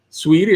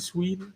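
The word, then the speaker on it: Saweetie: Sweetie, that's how you pronounce it, Sweetie.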